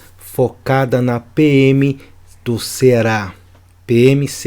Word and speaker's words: PM-CE: e Segurança Pública focada na PM do Ceará PMs E é assim que se pronuncia show de bola então eu aqui montei